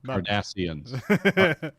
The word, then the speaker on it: Cardassians: Kardashians. Yeah. Asians, right? Not Ashian, not the Kardashians. not Cardassians.